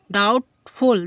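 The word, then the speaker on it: doubtful: संदेह क्या होगा संदेह इसी तरीके से डाउट डाउटफुल देखो बी टी के पहले वी है टी के पहले बी है इसलिए बी साइलेंट हो जाएगा इसलिए ये डाउटफुल डाउटफुल मींस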